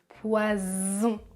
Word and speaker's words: poison: un serpent poisson poisson et le deuxième poison poison il y a plus d'énergie plus de force vous utilisez la voix poison poison poison poisson